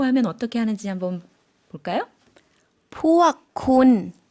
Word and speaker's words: พวกคุณ: พวกคุณ 네, 군 당신이었는데 앞에 단어에 포억만 붙여주시면 당신들이 되겠습니다. 그들도 마찬가지겠죠?